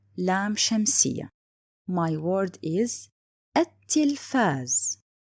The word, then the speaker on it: التلفاز: My word is التلفاز. Why did I write it and didn't pronounce it?